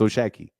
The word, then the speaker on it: O'Shaquie: His name is not Shaki, it's O'Shaquie.